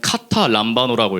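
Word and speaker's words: καταλαμβάνω: 여기서 나오는 이 깨닫지 못하더라 할 때 이 깨닫다를 그리스어 원어로는 카타 람바노라고 읽습니다.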